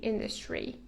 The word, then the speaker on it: industry: another word to say industry note that the pronunciation is industry industry tourist sector tourist industry is